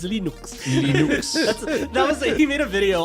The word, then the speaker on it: Linux: Torvalds, and I pronounce Linux as Linux.